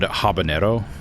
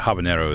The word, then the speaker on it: habanero: So, a lot of people will like mess up the word habanero like pepper because they assume it's pronounced like jalapeno, right?